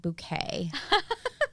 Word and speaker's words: Bucket: But she pronounces it Bouquet.